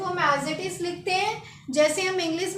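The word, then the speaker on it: rose: ई ये तो फ्रेंच में लिखेंगे और इसकी प्रोनाउंस होती है आर एच ड ओ जड ई तो इसको पढ़ेंगे हम इसको पढ़ेंगे हुज क्या पढ़ेंगे हुज तो रोज को हम बोलेंगे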